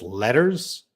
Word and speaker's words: letters: Can you pronounce letters versus lettuce? They sound the same to you. Letters, letters. So in American English, you can definitely gonna hear that R letter.